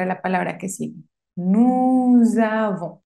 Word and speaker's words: nous avons: Nous avons. Y suena un poquito z, z. Nous avons. La S final no se pronuncia.